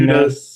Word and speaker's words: NES: Two Dudes and a Nest. Two dudes and a nest is how they say it.